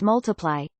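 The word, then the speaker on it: ×: Sheeran's second studio album, Times Pronounced Multiply, was released in June 2014.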